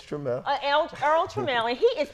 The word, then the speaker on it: Trammell: You're right, it's Trammell.